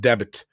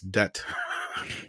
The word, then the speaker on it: debt: love from norway yeah don't pronounce it debit it's debt i know it's dumb